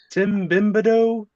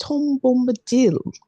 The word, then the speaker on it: Tom Bombadil: His name has not gone around that much, but Tim Bimbado. I believe it's pronounced Tom Bombadil.